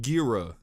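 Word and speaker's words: Ghira: Gira's name is pronounced Gira.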